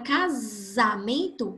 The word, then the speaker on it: casamento: A palavra casamento é com S e tem o mesmo fonema de zebra.